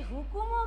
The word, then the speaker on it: হুকুম: সেই হুকুমও কিন্তু আমরা কিন্তু রস্যু দিয়েই পড়ব। রয় রস্যু, কয় রস্যু আর ম, হুকুম, হুকুম। উচ্চারণে কিন্তু হু, উকার উচ্চারণে উ দিয়েই বলবো আমরা।